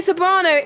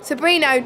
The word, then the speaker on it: Sobrino: So Sergio Sobrano is your race leader. Sobrino, not Sobrano.